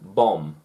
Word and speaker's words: bomb: you spell it without the n without the silent letter it will be incorrect how crazy is that same with bomb bomb bomb if the second the second b